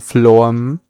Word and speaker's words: phloem: And below, you have your phloem. Phloem or flo-um, it's okay, you can pronounce it either way.